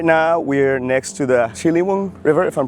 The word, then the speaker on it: Ciliwung: We've come now to a bit more south of the city of Jakarta, and right now we're next to the Ciliwung River, if I'm pronouncing it right.